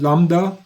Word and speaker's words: lambda: So remember you don't pronounce B which is called lambda function.